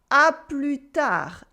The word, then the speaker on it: à plus tard: We also have à plus tard, which is see you later. À plus tard with a silent S and a silent D.